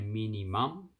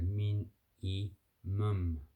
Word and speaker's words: minimum: So we don't say mini mum, so min, e, mum, mum.